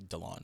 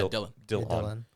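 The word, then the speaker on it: Dillon: were to like look at the word and pronounce it would be delon but yeah dylan yeah like how dylan brooks is pronounced yeah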